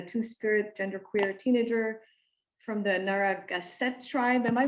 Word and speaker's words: Narragansett: Today I'm going to be talking to Sherenté Harris, who's a two-spirit genderqueer teenager from the Narragansett tribe. Am I pronouncing that right, Sherenté? Very close, yes. Narragansett.